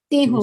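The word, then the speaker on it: তেঁহো: So this N is silent in Bengali. Is it like that? Teho? Teho. Is it Bro, Teho? yes. So N Yes. is silent? Yes, actually it's called in Bengal, it's called Chandra Bindu. So we pronounce like Teho.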